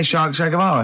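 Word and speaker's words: Che Guevara: Shay is like shake and his his surname is like guitar, right?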